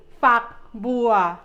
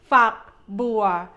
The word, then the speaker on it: ฝักบัว: ฝัก be careful when you say this syllable. You need to end this syllable in the G sound, not the K sound. Okay? ฝักบัว Let's try one more